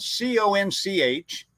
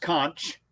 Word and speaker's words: conch: i'm gonna give you a little lesson here it's spelled c-o-n-c-h and it's not pronounced conch it is conch and it basically is the